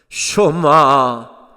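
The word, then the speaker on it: שמע: 쇼마 이스라엘, 이스라엘아 들으라. 우리가 흔히 쉐마 합니다만은 정확한 히브리어 발음은 쇼마입니다.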